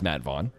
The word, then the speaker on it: Vaughan: It is Matt Vaughan. With an A after the GH, because it's spelled weird.